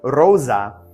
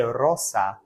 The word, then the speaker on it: rosa: okay finally Rosa Rosa this is the Italian notice that s is a z sound in some some Italian dialects as far as I understand it also be Rosa but Rosa the S makes more of a z sound in Latin the z sound does not exist like that so you say Rosa Rosa and finally finally Salve